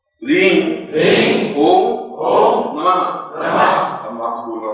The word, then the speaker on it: ओम: इसमें इतना ध्यान रखना है कि ओम में म ध्वनि आएगी और दूसरी ध्वनि म की सिद्धि में आएगी।